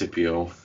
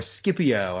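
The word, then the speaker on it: Scipio: another word yes yes is it cpio or skipio I've always said skipio but I'm not sure what the proper Latin would be skipio the Thunderbolt of War it's yeah probably a C Sound because C in Latin is is a hard it this speculative often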